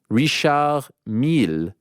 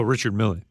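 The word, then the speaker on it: Richard Mille: that it is pronounced Rish M rather than Richard M oh Richard Millie yeah I think I think it's a French name yeah I'm probably just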